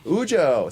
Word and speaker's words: Ujo: Did I pronounce Ujo. Ujo.